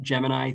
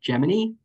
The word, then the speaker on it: Gemini: into Project Gemini or Gemini sorry I've always pronounced it Gemini through my whole life but even in archival footage of the way Folks at Nasa were pronouncing it it's Gemini so we'll say Project Gemini and this went